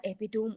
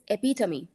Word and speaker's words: epitome: EP yes right so most of us pronounce the word as epitome only but would you believe the right pronunciation of this word is epitomy epitomy of Elegance epitomy